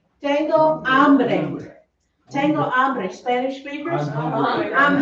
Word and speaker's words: hambre: It's pronounced tengo hambre. Remember, H's are silent, right?